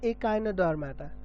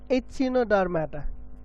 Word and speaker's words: echinodermata: go to next phylum phylum echinodermata or some pronounce it as ichino dharmata okay it's in a dark matter a kind of dark matter whatever you say whatever you prefer okay ekinus means spines